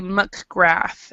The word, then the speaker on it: McGrath: a name and it's actually muck graph and it's a irish or scottish have mc in front of their names a lot so mcgrath is how does how